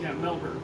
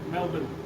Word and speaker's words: Melbourne: Yeah, I hear it's Melbourne. Here, Melbourne. I forget how to say it. They say Melbourne. Melbourne. That's how they say it, Melbourne.